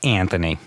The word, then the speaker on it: Anthony: say that the uh the correct way to pronounce my name it is uh Anthony so my observation is